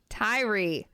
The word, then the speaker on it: Tyre: You pronounced it so much better. How do you say that with the T? Tyre.